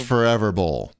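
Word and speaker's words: ForeVR Bowl: you that's spelled f-o-r-e-v-r forever right but it's pronounced forever bull and it's a bowling vr game it's a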